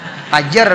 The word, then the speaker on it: fajar: Jangan fajri lah, fajar bacanya. Fajar.